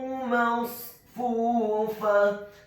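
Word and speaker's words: مصفوفة: Kata masfufah, huruf mimnya dibaca fathah 1 harokat. Huruf shadnya dibaca tafkhim tebal dengan posisi bibir bawah kita agak tertutup. Ingat, setelah huruf mim yang fathah adalah huruf shad yang fathah, bukan huruf sin yang fathah yang sifatnya berbeda.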